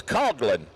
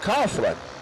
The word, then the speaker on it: Coughlin: It's Coglin cars, not Coughlin.